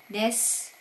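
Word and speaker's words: です: Suyobi desu. So, dito po sa Japan, tuwing sasagot po kayo, lagi pong may des or desu. Pero pag po sa pronunciation, it's des.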